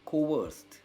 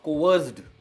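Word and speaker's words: coerced: तो कोअर्स्ड इसका पास्ट और पास्ट पार्टिसिपल है और इसकी प्रोनाउंसिएशन एंड होती है एक सॉफ्ट टी में, कोवर्स्ड एंड नॉट कोवर्स्ड, कोवर्स्ड।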